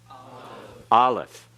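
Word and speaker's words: Aleph: for the ioan and this letter is silent it cannot be pronounced unless it has a vowel with it and in some cases it is absolutely silent it's in a letter or in a word rather it's any word and is absolutely silent it's there but is not pronounced at all so Allah is the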